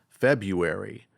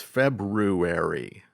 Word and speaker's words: February: Well, I thought the second month of the year was pronounced February, but it's February. Did you know that?